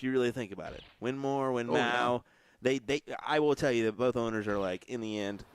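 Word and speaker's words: Winmau: Winmore.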